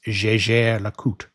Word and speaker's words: Jaeger-LeCoultre: And the company pronunciation, the official pronunciation, is Jaeger-LeCoultre. The first part, Jaeger, is softened with the J sound, just like the middle sound of the word measure.